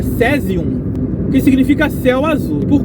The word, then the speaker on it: caesium: por curiosidade do sésio vem do latim caesium que se pronuncia cesium que significa céu azul